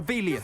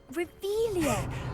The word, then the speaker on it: Revelio: You're Revelius. saying it wrong. Ugh, Revelio.